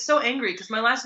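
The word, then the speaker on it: so_engry: which is angry everyone always mispronounces it as energy but I still the joke is very funny so energy yeah everyone always call it so energy but it's so angry because my last name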